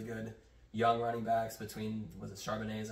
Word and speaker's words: Charbonnet: They have really good young running backs between Charbonnet, is how you say that, Kenneth Walker.